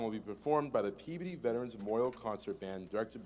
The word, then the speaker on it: Peabody: Wherever you go, no matter where you go, let people know it's pronounced Peabody.